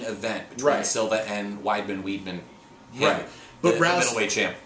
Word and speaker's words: Weidman: Weidman um we've got is it why better weetman have I been saying it wrong I think it's widely Bruce Buffer says Weidman okay well then if buffer says why I've been done it's Weidman okay uh might argue